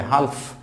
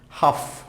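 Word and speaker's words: half: দেন হচ্ছে হাফ, এখানে হাফ বলে অনেকে, হালফ, হালফ নট হালফ, হাফ, হাফ, হাফ, it will হাফ।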